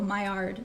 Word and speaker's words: Maillard: I know if you can read that, it's spelled Maillard, which is funny. It's a funny word. It was a guy's last name, like the guy who discovered it, but I'm pretty sure he was French. So Maillard is how you say it, and it's weird. Yeah, someone said mill something, so yeah, you're close.